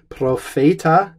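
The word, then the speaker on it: propheta: question put all Fayette ah this is a long e Profeta s2 and that's the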